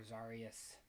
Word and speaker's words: Xarrius: Grove um continuing our zarus playthrough or zarus I think zarus is how I want to pronounce it uh he's A variation